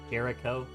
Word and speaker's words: Jericho: So like in that case, Jericho. I will say keep in mind that the CH is pronounced like a C, but to be fair,